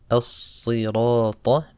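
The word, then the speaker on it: الصراط: Then you have the word as-sirata. Sad is a heavy letter. You pronounce it sa, not sa. As-sirata. And also the word letter ta, don't say as-sirata. Sirata, the letter ta.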